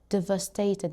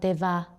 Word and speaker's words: devastated: Make sure you make the va the va devastated, not deva devastated.